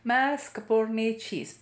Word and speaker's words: mascarpone: capone cheese i have to learn how to pronounce it mascarpone and this again you will be adding three